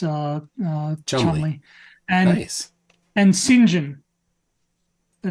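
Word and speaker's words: St John: pronounced uh uh and Sinjin the name Sinjin uh might at first um first uh glance look like Saint John um s t j o n but it's actually pronounced Sinjin and we say we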